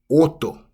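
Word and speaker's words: 音: Number 8, we have oto.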